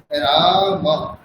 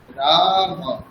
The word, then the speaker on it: রাম: যেমন ধরুন রাম বললাম আমরা। রাম। রাম এখানে আকার আছে কিন্তু আমরা ষষ্ঠ অকারের মতই উচ্চারণ করছি রাম তাড়াতাড়ি রাম কিন্তু সংস্কৃত যখন এটা আমরা উচ্চারণ করব তখন আমরা দীর্ঘ স্বর্কে করে উচ্চারণ করব তখন এটার উচ্চারণ হয়ে যাবে রাম রাম তাহলে পার্থক্য বুঝতে